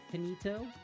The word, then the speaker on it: Kinito: Where you pronounced it wrong again. Instead of Kai, like kid. I tell you what, I don't think I'm gonna be able to pronounce it right. Kinito?